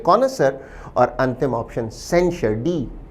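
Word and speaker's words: connoisseur: विद्यार्थी इसके उच्चारण पर भी ध्यान दें। शब्द का उच्चारण है कोनसर। कौन अ सर कोसर का अर्थ है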